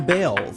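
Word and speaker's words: Baals: Some people think the Harry Balls Government Center would make Fort Wayne the butt of jokes. After all, the family did change the pronunciation of their last name from Balls to Bales.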